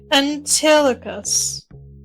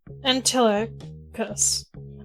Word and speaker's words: Antilochus: I'm gonna go Google how to pronounce the name. So I can half butcher it in a semi-correct way. Antilochus. Antilochus.